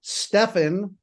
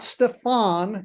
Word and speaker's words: Stefan: Um so the name is Stefan, not Stefan. Everybody thinks the accent should be on the second syllable because the last name, everybody thinks the name should be exotic.